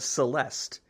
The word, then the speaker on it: Celeste: It does rhyme with molest. It's called, Oh my gosh. It's called Celeste, and it has nothing to do with molesting anyone.